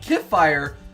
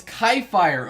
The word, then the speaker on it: Kif1re: me on this one okay this is my defense it's kai fire okay all right well yeah it could theoretically pronounce me either way but the thing is the reason why I say Ki because k i Kai Ki Killer Instinct was his first tournament I won oh so I kind